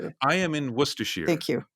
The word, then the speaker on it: Worcestershire: it i am in worcestershire thank you which is spelled were sisters yeah but it's it's like the sauce it's where they make worcestershire sauce so um i love